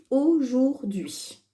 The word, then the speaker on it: aujourd'hui: Et il y a un H qu'on n'entend pas. U, I. Ça fait d. Dui. D'accord? Aujourd'hui.